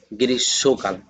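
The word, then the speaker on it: গ্রীষ্মকাল: মুরুব্বিরা বলে গিরিস মোকাল। আসলে এটার উচ্চারণ হবে গৃসকাল। কারণ মফলাটা স এর সঙ্গে মিলিত আসছে।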